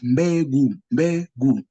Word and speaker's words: mbegu: So here, mbegu, you pronounce this one word as mbegu.